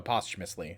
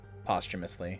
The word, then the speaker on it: posthumously: How do you pronounce posthumously? Oh, postumously. I'm stupid. Soon as I said it, I realized postumously.